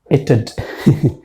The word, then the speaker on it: it'd: These are actually having one syllables, but look at this one, it'd. It sounds a little bit funny, it'd. it has 2 syllables.